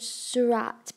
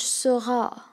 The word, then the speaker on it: Seurat: His name wasn't pronounced George Seurat, but pronounced George Seurat.